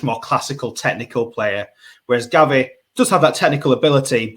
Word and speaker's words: Gavi: on the next player it rhymes with Javi and he's also at Barcelona uh gavi yes sir the reigning